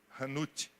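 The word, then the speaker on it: חנות: No hebraico existe uma palavrinha chamada hanut. Hanut é a palavra mercado, ou fazer negócio, ou transacionar. A palavra mercado é hanut. Se escreve com CH, chanut.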